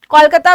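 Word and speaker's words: Kolkata: टू गो to Calcutta, कोलकाता भी आप बोल सकते हैं, कैलकाटा भी आप बोल सकते हैं, दोनों ही प्रोनाउंसिएशन सही है।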